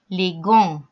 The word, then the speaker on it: les gants: les gants، les gants جمع pluriel. les gants يعني الجوانتيات. les gants، les gants. طبعا ما حدش هينطق الاس وما حدش هينطق التي.